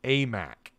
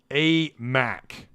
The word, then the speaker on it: Aimaq: this here we go the pronunciation for the basketball transfer is a mac a mac yeah i so i